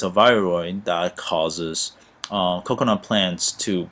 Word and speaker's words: viroid: And then this is another thing that will actually virials, and let me say it correctly, viroid.